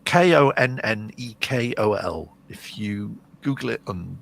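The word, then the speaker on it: Konnakol: But if you, it's Konnekol.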